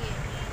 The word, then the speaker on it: Baguio: Baguio.